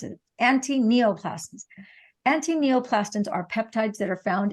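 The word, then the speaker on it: antineoplastons: questions but the thing to know is that attenioclastons actually I mispronounced it anti-neoplastms antineoplastones are peptides that are found in the urine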